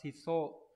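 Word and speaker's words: 質素: Từ này đọc là shiso, có nghĩa là gì nhỉ?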